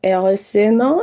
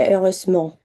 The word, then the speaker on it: heureusement: Y heureusement, que esta E no se pronuncia, se hace muy chiquita. Entonces no es heureusement, sino que heureusement.